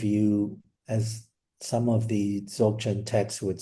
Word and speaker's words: Dzogchen: So you mentioned I've been pronouncing it dog chen. I don't know what you have a much more correct pronunciation of some of these words. Yeah, Dzogchen.